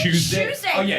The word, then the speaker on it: Tuesday: We say choose day. you you pronounce T's like CH's.